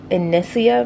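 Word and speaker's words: Inissia: So if you're wondering what I use to make my like homemade lattes, so this is a Nespresso Inicia machine.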